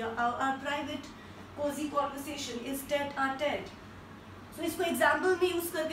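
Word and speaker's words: tête-à-tête: And the next word is tete-a-tete. I repeat once again, T-E-T-E-A-T-E-T-E, tete-a-tete means private conversation. Some, like, you know, conversation that we don't want to disclose to everybody. Our private cozy conversation is tete-a-tete.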